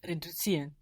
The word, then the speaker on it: reduzieren: And Zs in German are pronounced TS. TS. That's the pronunciation of a Z sound in German.